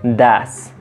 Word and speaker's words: does: un poco más natural, un poco más nativo, que sería das, das, como si fuera con una A. Entonces, no importa que se escriba does, se va a pronunciar das.